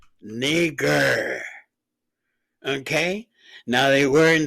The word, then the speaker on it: Niger: Okay, pronunciation. Strong's G 3526. Niger. Niger.